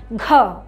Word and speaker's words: ঘ: সবাই একটু বলো তো সুন্দর করে, ঘ। এই যে আমরা উচ্চারণ করছি এটা কিন্তু, এটাও একটু ধাক্কা দিয়ে বলতে হয়, এটার সাথে একটু হ উচ্চারণ আসবে, ঘ।